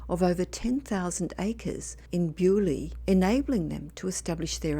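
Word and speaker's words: Beaulieu: dark the location is bolu which is locally pronounced as bu Abby in Hampshire England The Abbey was established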